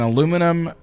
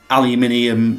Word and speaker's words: aluminium: Is it A, an aluminum structure, B, exploding boilers, or C, the welded steel hull? I'm going to say the aluminium, or as you Americans say, the aluminum structure.